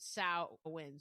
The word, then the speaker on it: Samhain: sam h a i n and they do pronounce it sa wind So, I think that that's probably the proper way.